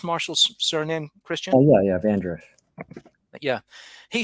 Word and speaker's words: Vandruff: And is that how you pronounce Marshall's surname, Christian? Oh, yeah, Vandruff.